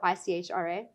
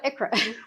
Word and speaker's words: ICHRA: So some people pronounce it ICHRA or ICHRA. That's what I go with. I'm not saying it's wrong, but it's actually pronounced ICHRA.